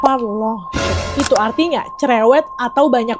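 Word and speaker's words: parlanchín: Kalau lihat di Google, bacanya Parlanchin.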